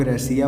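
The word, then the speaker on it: Россия: जैसे हम लोग रसिया बोलते हैं तो ये जो रसिया शब्द है ये अंग्रेजी है। रसियन भाषा में रसिया को रोसिया बोलते हैं।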